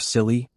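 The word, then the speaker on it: Scilly: The Isisles of Silly, pronounced silly, yes, just like the word, already sound like they were invented by a comedy writer.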